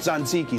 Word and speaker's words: tzatziki: It's pronounced tzatziki sauce.